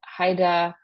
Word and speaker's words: Haida: But here in parentheses is the way to pronounce these names. So Tlingit, Tsimshian, Haida, Kwakiutl, Kwakiutl, and Salish, and then the Bella Coola.